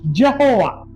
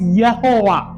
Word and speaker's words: Yehovah: Now we say in English Jehovah, हम अंग्रेजी में यहोवा कहते हैं, but there is no J in Hebrew. लेकिन इब्रानी भाषा में जे ऐसा उच्चारण नहीं होता, So it is only Y. सिर्फ वाई ऐसा उच्चारण होता है। So it is called as Yehovah.